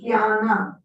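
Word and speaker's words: jñāna: You know, in the Bhagavad-gita is saying jnana, sometimes. Yeah. So that is this nya. Yeah, okay. Jnana.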